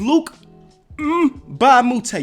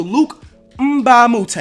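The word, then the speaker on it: Luc Mbah a Moute: I think you pronounce the M. So, Luke Mbamute, all right?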